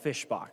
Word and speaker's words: Fischbach: to tell you it's it is Representative Michelle Fischbach.